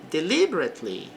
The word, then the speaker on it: deliberately: He deliberately ignored me. Bom, nesta palavra o e fica suprimido, então falamos deliberately.